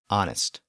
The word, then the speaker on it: honest: And now think about words like honor, honest, and hour, as in time of day.